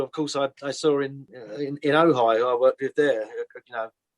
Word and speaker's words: Ojai: We could talk all night, but before we go, just let people know when the album Ojai, have I said it right this time?